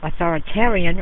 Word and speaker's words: authoritarian: Authoritarian rhymes with barbarian.